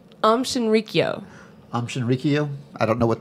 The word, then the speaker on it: Shinrikyo: Shrinkio. I have no idea. Did I say that wrong? Yes. So say it right. Shinrikyo.